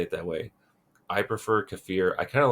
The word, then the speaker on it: kefir: So, kafir that some people call it um what do they call it? I call it kafir. I I've heard it keer, but like that's not a correct way to say it. Um there's another correct way to say it that I can't remember. Kefir, which I think sounds stupid. I don't like kefir. I think it sounds ridiculous, but that's okay if you say it that way.